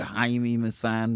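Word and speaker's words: Jaime Maussan: man here does it haimi masan dang that's how you pronounce it i have hours and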